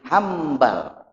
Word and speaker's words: Hanbal: teh teh Ikram Muna Ya nun mati mayunan mbak maca dibaca dibacanya jadi m sepertos minbar di janten mimbar di maka didiagnosis sebenarnya Teteh Imam Ahmad bin hambal ya jadi wa Imam